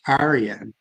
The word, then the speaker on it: Iran: are the same meaning we pronounce it Iran but the the true point of it is Aran and that's how they